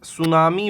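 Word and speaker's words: tsunami: ऑफ the following places सुनामी warning centre located ठीक है T silent होता है तो यह आपका ऑप्शन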